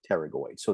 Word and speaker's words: pterygoids: internal pterygoid muscle okay the p is silent pterygoids the other two